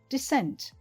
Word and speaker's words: descent: The words sound similar. Listen. Decent, descent. It's good if you can hear the stress is different.